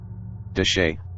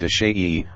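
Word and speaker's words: Chelly: ruins and breathtaking features deshay pronounced de shayi or more commonly de shay consists entirely of land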